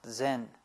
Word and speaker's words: Zen: chan in korean son in japanese of course pronounced zen and uh when we use it within buddhism